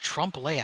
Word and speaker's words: trompe l'oeil: afternoon none all right I think it's pronounced Trump lay ironically huh thanks something